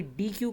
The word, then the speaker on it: deque: Double ended क्यू है। Pronounce होता है डेक से।